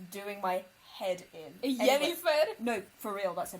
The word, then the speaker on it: Yennefer: Anyway, Yennefer? no, for real, that's her name. Oh, Yennefer. Oh, I thought you were Hispanifying her name. No. Yennefer Lopez. Genuinely, it's spelled with a Y. Jennifer.